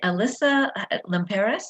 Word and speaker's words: Alyssa Limperis: that's fun that's fun and and the lead alyssa limperis is that how you say her name mm-hmm